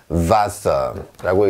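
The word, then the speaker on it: Wasser: 그런데 이 녀석의 발음은 영어의 V 소리가 납니다.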